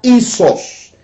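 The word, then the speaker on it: ἴσος: que quiere decir quiere decir a esos se pronuncia y sos esto es siendo igual y sos ahora cuál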